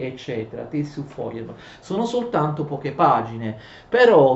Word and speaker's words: Feuerbach: Le tesi su Feuerbach, ma si legge Feuerbach, le tesi su Feuerbach 1845 sono in realtà composte da poche paginette, d'accordo?